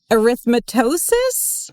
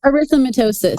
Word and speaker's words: erythematosus: autoimmune disease systemic lupus erythematosus? No. Yeah? How do you say it, Aimee? Erythematosus. Erythematosus. I forgot a syllable there.